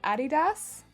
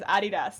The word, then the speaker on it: Adidas: The way Americans pronounce Adidas? Oh yeah, they call it Adidas, right?